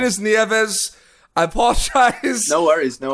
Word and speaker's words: Nieves: what I saw a lot of people said Joan leaves and you know what the problem pronunciation is Nieves I apologize no worries no worries but that